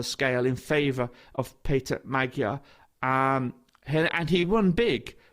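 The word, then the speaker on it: Magyar: Early this week, the government led by Peter Magua. I'll say Magua. I think the Hungarians pronounce it maga. Um, but it's written Magua. It's Magaro is the the the the English way of pronouncing um the word.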